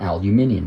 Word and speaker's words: aluminium: As the name implies, the owl part is aluminum or aluminium if you pronounce it that way. Fun fact, uh the scientist who discovered aluminum named it aluminum, English scientist.